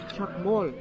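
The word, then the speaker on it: Chac Mool: Chakmol. Chak, that's what teachers used to write on the board. Mol is like the animal that lives underneath the ground. That's how you pronounce it, but it's spelled differently.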